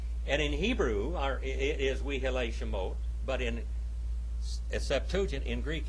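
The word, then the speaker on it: ואלה שמות: We Elei Shemot. We Elei Shemot. All right? And in Hebrew, it is We Elei Shemot.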